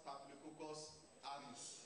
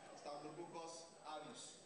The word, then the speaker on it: Staphylococcus aureus: Because some of these herbal products, they've been You know, we hear now the thing cures Staphylococcus aureus. That's the pronunciation. Staphylococcus aureus.